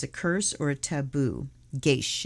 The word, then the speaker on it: geis: curse or a taboo geish it's pronounced g-e-y-s-h geish so i was right